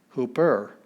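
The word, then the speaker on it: ὑπέρ: we get the word apostle so we don't pronounce anything extra with a smooth breathing mark rough breathing mark we have hooper hooper which either is going to mean on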